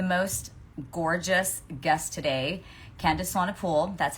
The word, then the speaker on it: Swanepoel: We have the most gorgeous guest today, Candice Swanepoel. That's how you pronounce her name is Swanepoel, like a pool.